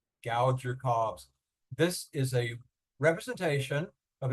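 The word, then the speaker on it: Gauger-Cobbs: think even a slightly unattractive name, but it's pronounced Gouger Cobbs. Gouger Cobbs.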